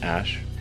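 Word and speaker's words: Æ: explained the name's significance the AE is like pronounced Ash and then uh a12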